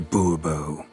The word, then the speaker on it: Bourbeau: Fine. Monsieur de Bourbeau. The emphasis falls on the last syllable.